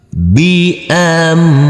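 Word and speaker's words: بأموالهم: Bi amwalihim. Huruf mim sukun cara bacanya sama dengan huruf M.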